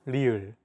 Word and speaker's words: 리을: This consonant is often romanized as an R or an L, but there isn't an equivalent sound in English. 라마. This sound is actually somewhere between an L and an R sound.